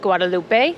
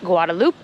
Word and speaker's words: Guadeloupe: would have been pronounced Guadalupe, the Spanish pronunciation. But now that it is an overseas department of France, it is pronounced Guadaloop.